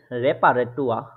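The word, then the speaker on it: Reparatur: হু তে কোয়ালিটেট এর রেপারেটুয়া রেপারাটুয়া ঠিক আছে এই রেপারা টুয়া দেখেন লাস্টে এটা শুধু এর আছে তারপরেও এর উচ্চারণে ক্ষেত্রে এরটা উচ্চারিত হচ্ছে না এর মত হচ্ছে রেপারা টুয়া ঠিক আছে স্পাইজে কার্টে স্পাইস কার্টে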